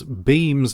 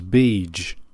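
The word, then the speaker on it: Bheem: FYI throughout this review We mispronounce beam's name as Beach so just try to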